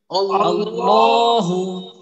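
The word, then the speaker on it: اللهُ: বিসমিল্লাহির রাহমানির রাহিম আল্লাহু আল্লাহ আচ্ছা এইখানে দুইটা কায়দা আছে দুইটা কায়দা কি বলতে পারবো আল্লাহু এই শব্দের মাঝে হুজুর একটা মোটা করতে হবে ল মোটা করতে হবে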